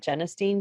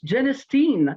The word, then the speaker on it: genistein: I learned how to pronounce genistein. I always said genistein. Yes. Nobody ever told me. So genistein, I will try to remember that.